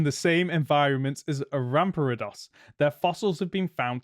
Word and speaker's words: Rampardos: It lived in the same environment as a Rampardos.